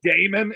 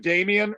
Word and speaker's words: Damian: know yeah when people when people call me Damon instead of Damian or they call me demon instead of Damian I